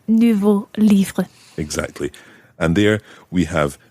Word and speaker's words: livres: J'ai écrit 2 nouveaux livres. Exactly. And there we have nouveau with an X on the end, which is silent. And of course, livre with an S on the end, which is also silent.